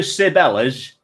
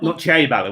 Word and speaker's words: Ciabella: But being in deepest, darkest Derbyshire, nobody pronounced it correctly. Everyone around here just called it. You're going to Sibella's, not Ciabella, which is what it is supposed to have been.